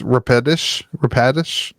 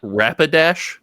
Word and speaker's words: Rapidash: Yeah, But I think the Rapidish, I heard somebody else pronounce this Rapidish. it's not Rapidash. I've always called it Like Rapidish. The word rapid and dash Yeah, together.